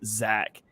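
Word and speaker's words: Zech: yeah it's crazy it's spelled z-e-c-h but pronounced Zach yeah that one that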